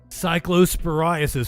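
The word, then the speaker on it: cyclosporiasis: cycllosporasis high in the US and cycllosporasis.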